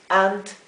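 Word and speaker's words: aunt: aquí en este caso la a y la u no se no suena exactamente como la o profunda o pero suena entre una a común y una o es ant Y eso es ant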